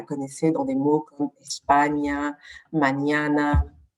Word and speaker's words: España: dans des mots comme España, mañana. Donc, on la prononce comme un GN en fait.